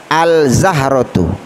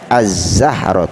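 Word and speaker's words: الزهرة: tu artinya Bu bunga ndak boleh kita baca Al Zahrotul karena alif lam nyata tidak boleh dibaca dengan jelas Kenapa karena bertemu dengan huruf Syamsiyah mana urusan usianya huruf z ya jadi cara bacanya az-zahro tuh nomor 7 yang ke-7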